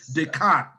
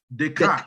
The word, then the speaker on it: Descartes: That is a French name. The S is silent, so we call it Descartes. Descartes. Okay. Yes, Descartes.